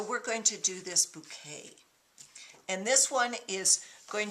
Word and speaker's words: Bokeh: And today I'm going to show you one of two, I believe it's pronounced bouquet styles.